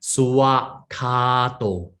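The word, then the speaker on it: svākkhāto: the swakato, some they will pronounce as suwa. They will chant it as suwa, not swa. The more properly is suwa. Okay, you had to pronounce that part. Suwakato.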